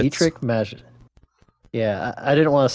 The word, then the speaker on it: Dietrich Mateschitz: The first race at the home track since how do you pronounce the Red Bull founder's name? Dietrich Mateschitz. Dietrich Mateschitz.